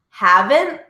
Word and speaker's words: haven't: Noticing that ending T is never pronounced. Haven't, hasn't, hadn't.